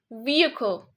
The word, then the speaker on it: vehicle: the correct way is vehicle vehicle there's no he sound in here although it's in the spelling so we say vehicle